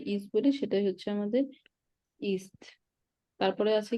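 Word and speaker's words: ist: ইএসটি, east, এটার উচ্চারণ east. East. হ্যাঁ, ইস্ট। আচ্ছা, মাইনে নাম মাইনে ইস্ট, ইস্ট। যার যেটা নাম সেটা। যেমন আমরা ইংলিশে ইজ বলি, সেটাই ইস্ট। হ্যাঁ, যেমন আমরা ইংলিশে ইজ বলি সেটাই হচ্ছে আমাদের ইস্ট।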